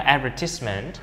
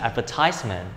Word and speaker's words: advertisement: Từ này có hai cách đọc. Cách đọc thứ nhất là Anh là advertisement, còn Anh Mỹ sẽ là advertisement. Cách đọc là advertisement hay advertisement thì đều được.